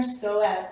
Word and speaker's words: psoas: deep breaths so again here we're stretching our psoas muscle and that is spelled with a p so it's p-s-o-a-s if